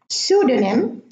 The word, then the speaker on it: pseudonym: In English, the P is silent at the beginning of the word: psychology, psychiatry, pseudonym, and pneumonia.